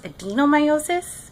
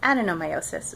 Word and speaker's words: adenomyosis: I thought it was pronounced adenomyosis, but I guess the real way to pronounce it is adenomyosis. So I'm going to use that until somebody tells me otherwise, but so far the doctors have been calling it that.